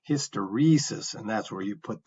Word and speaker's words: hysteresis: that's a long e hysteresis and that's where you put the um the emphasis is on that syllable with the second e as a long vowel sound okay so here's a